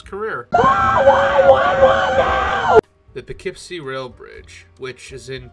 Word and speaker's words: Poughkeepsie: done my research on how this is actually pronounced so i'm going to do the best i can so this is about the poughkeepsie railroad bridge which caught fire on may 8